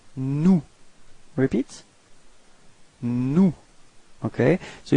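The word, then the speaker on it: nous: of the plural it's new repeat no okay so you've got this final s but you don't pronounce it okay new mhm and then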